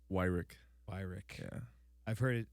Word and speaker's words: Weirich: Weirich. Weirich. Yeah. I've heard it in like 3 different ways. Yeah, everybody pronounces it wrong.